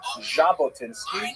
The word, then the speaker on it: Jabotinsky: And it's kind of like the J as in the French name Zach, not like the J in the English name Jack. In order to make the Jack sound, you actually have to add a D to the Russian alphabet. So his name is actually Jabotinski.